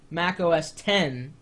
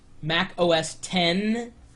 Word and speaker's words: Mac OS X: and yes it's pronounced Mac os10 when you see that the X that's 10 in relation to that